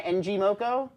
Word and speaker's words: ngmoco: the CEO of NG Moco they may I'm pronounce that right now am I NG moko yeah that's right all right I got a